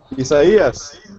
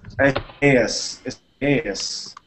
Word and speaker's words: Isaias: How do I pronounce it again? Isaias. Isaias. Okay, Isaias. So good.